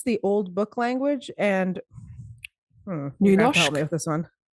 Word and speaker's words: Nynorsk: That's the old book language, and Nynorsk.